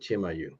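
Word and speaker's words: Chimayo: been Chim IU Miu it's c-h-i-m-a-y-o and they pronounce it chimayu and yeah yeah no that's one of the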